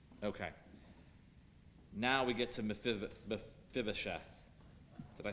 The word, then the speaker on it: Mephibosheth: Now we get to Mephibosheth.